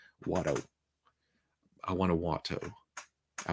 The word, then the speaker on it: Watto: And as a Southerner, as someone from Arkansas, pronouncing those two T's hurts really, really bad. Watto.